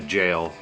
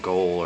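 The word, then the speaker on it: gaol: Um then the Wythe House and we can go through the gallows and the jail. And it is actually pronounced jail and not goal or whatever.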